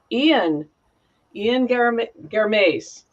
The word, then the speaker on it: Ian Garmaise: And today we have Ian Garmaise.